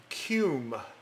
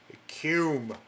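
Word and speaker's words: Kum: So what I'm going to do is I'm going to use the Cume. You heard me, Cume. Ain't pronouncing it any other way.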